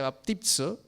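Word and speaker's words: βαπτίζω: Es importante que la palabra bautizo la podamos entender desde el griego, que se pronuncia baptizo, pero que significa sumergirse.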